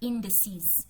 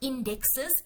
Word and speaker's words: indices: showing you major world indices. So the proper way to pronounce an index in plural, more than one, is not indexes, it's indices.